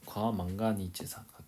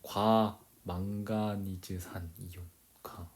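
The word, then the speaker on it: 과망가니즈산: 자, 그다음에 하나는 과만가진 과망가니체산 과만가니 재산이 발음에 헷갈린다. 과망가니즈.과 따라해 볼래?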